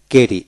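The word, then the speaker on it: carry: অর্থাৎ ডাবল আর যেখানে থাকবে একটি আর এর উচ্চারিত হবে। যেমন সি এ কে আর ওয়াই রি ডাবল আর নয় সি এ আর ওয়াই কেরি এভাবে উচ্চারিত হবে। একটা আরে সাইলেন্ট থাকবে।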